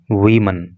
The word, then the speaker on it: woman: जब singular number में ये वर्ड होता है तो इसको वुमन बोला जाता है और जब ये प्लूरल नंबर में होता है तो इसको वीमन बोला जाता है। तो प्रोनाउंसिएशन का आप इसका खास ध्यान रखना।